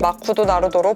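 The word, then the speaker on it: マクドナルド: 일본인 입맛에 맞게 메뉴 개발하고 이름도 발음하기 쉽게 마쿠도 나루도로 바꾸죠.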